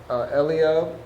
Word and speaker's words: Eliab: sheep, and then also what you said about Eliab, is that how you say his name? Eliab, yeah, and how like he also like said something.